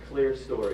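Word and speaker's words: clerestory: Now there's a word here in the description, clear story is how you pronounce that.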